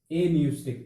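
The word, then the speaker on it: apneustic: पहले का नाम है एन्यूस्टिक सेंटर, एन्यूस्टिक, इसकी स्पेलिंग में जो पी है वो क्या होता है, साइलेंट होता है।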